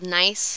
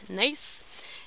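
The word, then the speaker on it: gneiss: this rock is called nice that's how this is pronounced nice and again it's got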